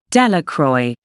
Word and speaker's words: Delacroix: Bobby and Harry Jones and Dickie Delacroix, the villagers pronounced this name, Delacroix, eventually made a great pile of stones in